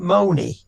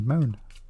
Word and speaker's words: Mone: you pronouncing that right sure it's not Mony it's Moon m-o-n-e moan right okay but I put